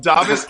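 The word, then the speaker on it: Dāvis: First of all, I've been calling him Davis his entire career. We got a note today that his first name is pronounced Davis. That's brand new to me.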